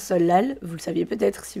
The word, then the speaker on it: 설날: le seul la halle qui s'écrit donc ça nan mais se prononce solal vous le saviez peut-être